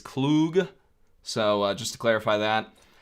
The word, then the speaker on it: Klug: I saw someone saying, is it Klug, pronounced Klug or Klug or Klug? It's Klug.